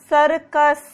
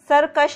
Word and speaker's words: सरकस: सरकार, सिमरन, सरकस, सरकश नहीं है, सरकस, दोनों जगह स का ही उच्चारण है।